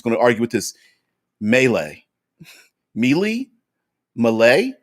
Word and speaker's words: melee: Um, but anyway, since we are is it melee? Melee. What is it? My man Dave Frant from Nerdarchy always says it Malay. Malay. That's it, Malay. Because he's like, it's spelled Malay. It's pronounced Malay.